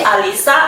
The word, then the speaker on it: Alisa: Alisa, Iya, Alica, Ica atau siapa? Alisa Kak. Alisa. Alisa. Oh, bukan Alica tapi nama Instagram Pak. Iya. Alica. Iya. Oh, itu nama plesetan. Oh. Pronunciasinya Alisa Kak.